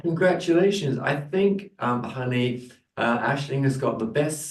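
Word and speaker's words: Aisling: Asing so yeah my full name is it's pronounced Ashling Ashling Irish spelling name yes Ashley hello and where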